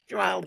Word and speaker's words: Shuail: So can you pronounce it correctly for me? I'll try. Okay. Shuail.